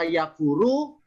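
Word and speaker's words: يَكْفُرُ: Bisa yakfuru, bisa yukafiru. Ya. Dari fil kafaro yukafiru. Kalau fa-nya bersida bertasdid, kafaro yukafiru. Kalau fa-nya nggak ada sidanya, kafaro yakfuru.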